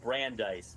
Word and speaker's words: Brandeis: Also, the word it's pronounced Brandise, but it's your character's name.